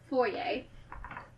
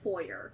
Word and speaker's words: foyer: are commonplace ish like for yay you know it's hope for you you know it's not called foyer yeah Americans call it for years and it bothers me